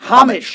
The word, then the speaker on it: homage: Like without the H.